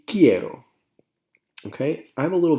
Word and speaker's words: quiero: pronunciation of this word a lot of people look at it and they go cairo or quiero or it should be quiero okay i have a